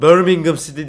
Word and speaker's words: Birmingham City: Birmingham City diye okunur.